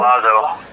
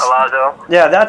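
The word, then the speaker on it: Collazo: Colazo. So I mean that's Colazo.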